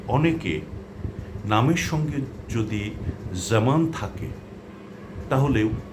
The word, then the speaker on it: জামান: এগুলো যদি আপনারা বারবার প্র্যাকটিস করেন তাহলে সঠিক উচ্চারণটি আসবে সেটা আর জামান হবে না। হবে জামান জামান জেড এর মত উচ্চারণ হবে।